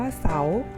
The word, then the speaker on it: เสาร์: และ สระ เลย ค่ะ ให้ นัก เรียน ลอง สังเกต คำ ว่า เสาร์ นะ คะ จะ เห็น ได้ ว่า เครื่อง หมาย ทัณฑฆาต จะ ไป ปรากฏ อยู่ บน รอ เรือ นะ คะ และ รอ เรือ เรา จะ ไม่ อ่าน ออก เสียง เรื่อง จาก มัน มี ไม้ ทัณฑฆาต กำกับ อยู่ นั่น เอง นะ คะ เพราะ